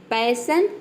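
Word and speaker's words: passion: पैसन में देख सकते हैं कि एस के दोनों तरफ वावल आया है, लेकिन हम यहाँ पे एस को ज नहीं प्रोनाउंस करें, यहाँ पे एस को हम क्या प्रोनाउंस करें, श प्रोनाउंस करें, ठीक है। जो शलजम वाला श होता है वो यहाँ पे हम श प्रोनाउंस कर रहे हैं।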